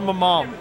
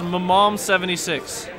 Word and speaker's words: MMOM: this Grand finals it's what thank you it's pronounced Mom it is Mom 76 you can call it mm but it is